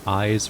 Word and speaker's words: Iz: about to head into eyes or is depending on which character is pronouncing it it's time to go